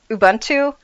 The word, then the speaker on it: Ubuntu: uh sorry Large Bastard had to teach me how to say this but Ubuntu I had the N and the and the B transposed for ever. So, Abuntu, I think, uh, Abuntu